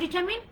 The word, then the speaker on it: determine: আমরা বলি ডিটারমিনেশন, ডিটারমিনেশন, স্পেলিংটা কিন্তু তাই, ইটস ডিটারমিনেশন, determination, determine, determine, determine, determine, determine, কেন determine? Because আর লেটারটা সাইলেন্ট থাকবে, determine, determine, determine, determination, determination, determine, determine, determine, determination, determine, determination, determine.